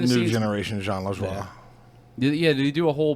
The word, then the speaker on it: Lajoie: No, it's John LaJoie. It's French.